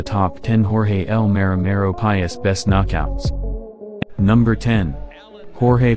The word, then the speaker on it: Páez: 23 years of age is Páez.